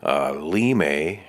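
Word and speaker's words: Linde: a lem limewood as that said there is pronounced in german limey it is a similar to basswood it's the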